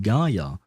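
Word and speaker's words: Kaeya: Because I had listened to Kaya's voice lines, and in Japanese, they don't actually pronounce it Kaya, they pronounce it Gaia for some reason.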